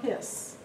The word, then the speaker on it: His: and The ventricle yes the bundle of hiss um his is spelled h the bundle of hiss